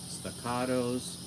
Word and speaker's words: Staccato: They have Staccatos. Oh, wait a second. I get so criticized for saying staccato, which is the correct pronunciation in Italian. But America, I guess I should say staccato.